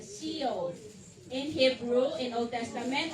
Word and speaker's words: Sheol: Sheol. Yun ang pronunciation niya, Sheol.